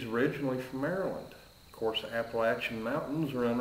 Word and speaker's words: Appalachia: or an app appam AER Lain app American Appalachian Amer anyhow it's pronounced Appalachia people not Appalachia please I'll have another latte